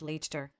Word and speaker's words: Leicester: It's just Worcester, actually, like Leicester is just Leicester.